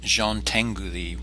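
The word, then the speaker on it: Jean Tinguely: work within these limitations the next artist is pronounced Jean Tengu thee we have some interesting European pronunciations this week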